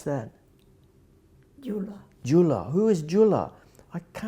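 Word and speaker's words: Gyula: How do you pronounce that? Jula.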